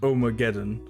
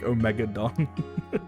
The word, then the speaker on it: Omageddon: Oh, it's pronounced Omageddon. Yeah. I just like I like I made that connection. I was like, oh yeah, like Armageddon, but then just like didn't until like after I'd already pronounced it like Omegadon.